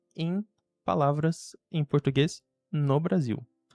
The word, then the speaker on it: Brasil: seja, na palavra final, na palavra Brasil, que tem L como a última letra, nós pronunciamos no Brasil como U, como a letra U. Brasil final, certo?